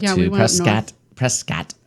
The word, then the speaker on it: Prescott: We went to we had a Prescott trip, and we went up to we went up Prescott. Prescott. That's what the locals call it.